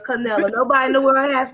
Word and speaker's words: Canila: canela so i'm gonna give y'all some couple syllables just a little bit now love so it's canelo nobody in the world has my name so